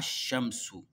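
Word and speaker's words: الشمس: un chat du coup on va lire sans la lettre L avec ses mains à l'écrit mais à la prononciation ça se lit pas on aura à Chamsou on va sauter sur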